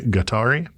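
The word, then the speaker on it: Guatari: I'm pronouncing that word the way that to my limited understanding it would be pronounced in modern Spanish righteous which is gari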